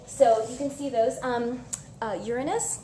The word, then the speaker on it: Uranus: Uranus, let's keep it pronunciation time, right? Keep it closer to astronomy than anatomy.